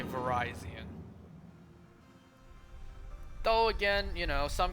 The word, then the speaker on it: Virizion: See, the way I pronounce it is, you know, the official way. Or what should be the official way. The way that the anime pronounces it. The anime said Verizion, so I say Verizion.